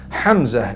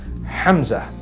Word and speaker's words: Hamza: Talha is the proper pronunciation. Hamza is the proper pronunciation. Hamza.